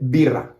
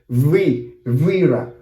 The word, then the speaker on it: birra: slang, by the way, it's exactly the same pronunciation. Vino, and then birra. I'm not saying vira, or vino. No, I'm not saying that. I'm just saying B.